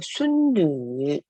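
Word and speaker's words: 孙女: 순누. 자, 여기서 N 뒤에 U 음라우트 이렇게 땡땡이가 2개 있는 거는 유 발음이기 때문에 순누라고 해주시는 거 꼭 기억해 주세요.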